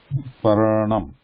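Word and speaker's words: पर्णम्: So consonant ra sound should be pronounced first and na. Parnam. Yeah, hook is on top of na, but hook is pronounced first. Hook is ra. Paranam.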